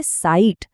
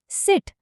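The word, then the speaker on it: seat: हम उसे हिंदी वाला आई बना देते हैं और सीट बन जाता है साइट। जबकि सही प्रोनाउंसिएशन है सीट। बिल्कुल छोटी क्विक सी आवा। जरा फर्क सुनिए। साइट और सीट।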